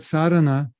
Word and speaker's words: sadhana: deep that even though the word sadhana has a long a in front you can read it it's got a line over the a we'll read it with a long line from the a we'll make it short and we'll make the